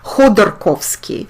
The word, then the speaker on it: Khodorkovsky: long as as Khodorkovsky but in Russian is holder coughs key okay therefore you can easily go to the